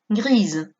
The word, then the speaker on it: grise: Des escarpins gris, des chaussettes grises. Atención, aquí también tenemos una S entre dos vocales, por lo tanto pronunciaremos una S sonora, zzz, grise.